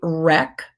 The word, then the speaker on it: wreck: This is a wreck with a silent W and wriggle with a silent W.